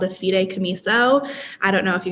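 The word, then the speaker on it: fideicomiso: lot of confusion about this thing called a fide camiso i don't know if you guys have heard of it and that's how it's pronounced fide kamiso and in very simple terms it acts as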